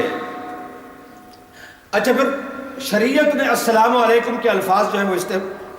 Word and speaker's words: السلام علیکم: لہذا جب سلام کرنا ہے تو جو الفاظ شریعت نے بتائے ہیں ان کی رعایت ضروری ہے، صحیح طریقے سے صحیح تلفظ کے ساتھ السلام علیکم، السلام علیکم نہیں۔ اور یا آپ یوں